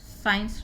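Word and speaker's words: science: तो इसलिए मैं ये बात कह रही हूँ कि यहाँ पे जब भी SC के बाद IEY आएगा तो सी साइलेंट नहीं होगा, एस साइलेंट होगा, सीन। साइंस, ये शब्द आपने बहुत सुना है, साइंस डेली यूज में शब्द आता है, SCIENC, साइंस।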